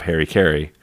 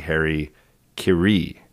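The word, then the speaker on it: hara-kiri: In that piece, Harper's used and possibly originated the common misspelling of hari-kari because it's actually hari-kiri. K-I-R-I, but Harper's Bazaar. Liaison. That's right. Harper's Bazaar spelt it hari-kari, so we all pronounce it wrong, we all spell it wrong.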